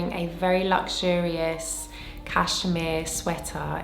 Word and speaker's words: Vert: ver malit I think with proper French pronunciation you don't pronounce the T so it's ver I have been doing